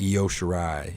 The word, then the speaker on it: Io Shirai: I never know how to pronounce that other girl's name. What's her name? The other one? Io Shirai? Io Shirai, yeah.